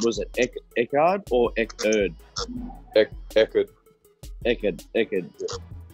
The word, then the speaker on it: Eckerd: So, how do you pronounce it? Was it Eckerd or Eckerd? Eckerd.